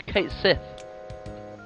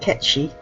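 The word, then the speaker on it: Cait Sith: best character welcome to kate smith i've been told it's actually supposed to be pronounced catchy i'll probably never get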